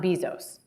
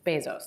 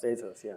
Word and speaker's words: Bezos: lesson in every to everyone on how to pronounce Bezos it's not Bezos it's Bezos Bezos so before we dive into Uber how do